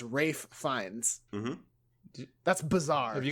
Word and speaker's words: Ralph Fiennes: Rafe Fiennes. What the fuck? It's Ray Fiennes. It's Rafe Fiennes.